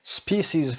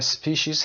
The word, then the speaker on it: species: species و یا species هر دو تلفظ صحیح هست، اینو دقت داشته باشید.